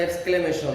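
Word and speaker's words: exclamation: এরপর আছে বিস্ময়বোধক, ইংরেজিতে বলি আমরা note note of এক্সক্লামেশন, EXCLA। আর কেউ উচ্চারণ করে এক্সক্লেমেশন, আসলে এক্সক্লেমেশন, MATION, এক্সক্লেমেশন।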